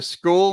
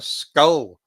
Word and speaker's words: Scole: right so so uh the school meeting refers to the Village of school near D in Norfolk and it's spelled capital s c o l e although I think it's funny that someone has thought in given my Scottish accent it's a skull meeting because of course we're